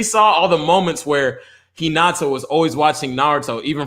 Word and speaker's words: Hinata: Like, I mean, Haneda is my girl. Who? I'm pronouncing her Haneda. Oh, Hinata. Yeah, she was dope.